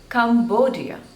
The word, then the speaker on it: Cambodia: Bulgaria Bulgaria next is Cambodia there are three syllables and the stress is on the seconds label come dear Cambodia Cambodia